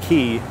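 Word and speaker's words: Quay: raffles qu a why it's actually pronounced key I just like it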